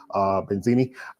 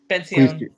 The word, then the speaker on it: Benzion: Benzini coming to. Get your name wrong again. Benzion. Benzion. Sorry, Benzion. Okay.